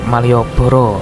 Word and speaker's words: Malioboro: Kalau tulisan bahasa Indonesianya Maliabara gitu ya, tapi kalau di bahasa Jawa bacanya bisa Malioboro, yang berarti untayan bunga.